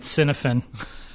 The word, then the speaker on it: Cynefin: of months I think I've been calling it Cynefin. Cinnamon? No, don't get And I hungry. may not have pronounced it correctly.